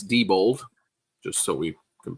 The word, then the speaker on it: Diebold: So we're being told by Gutbaum it's Diebold, just so we can pronounce it properly. Diebold.